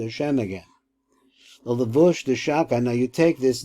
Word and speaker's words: Shaddai: And so this is how you get to the combination of the divine name, which is SHADDAI, pronounced like that.